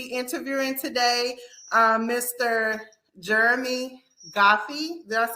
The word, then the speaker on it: Guffey: going to be interviewing today um Mr Jeremy goofy did I say it right yeah yeah yeah